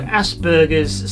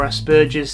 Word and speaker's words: Asperger: was a german so i simply pronounce it the way he would have pronounced it which is with a hard g asperger as opposed to